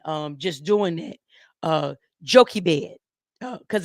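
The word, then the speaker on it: Jochebed: just doing it uh jokey bed because it's spelled differently we would call it Joshua bed um it's spelled j-o-c-h-e-b-e-d but it's pronounced joki bed and so Moses's mother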